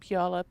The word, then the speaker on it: Puyallup: You could always tell a new newscaster whether they could pronounce, Skykomish and Puyallup and Issaquah, right? I had to have it broken down from her. Squim. Y'all, like y'all, up, Puyallup.